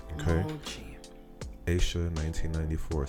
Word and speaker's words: mochi: But it's pronounced mochi. Okay. Mochi. Aisha 1994 says it's pronounced mochi.